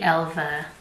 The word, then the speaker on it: Elva: the original Helga and I'm pronouncing it Elva because it's an a with two dots on top and I think you pronounced that as a and not a a I think it's